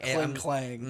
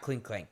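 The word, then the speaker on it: Klinklang: So like Clink Clang. yes, not Clink Clank.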